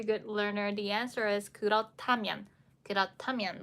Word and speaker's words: 그렇다면: will be coming up, and how do you pronounce it? Number 1, 그러다면. Number 2, 그렇다면. 그러다면, 그렇다면. 그러다면, something something, or 그렇다면. 그렇다면.